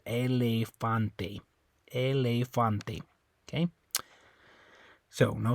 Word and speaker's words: elefante: So anyway, on this one, so anyway, even though the E's on the end, you're still going to make that A sound. Elefante.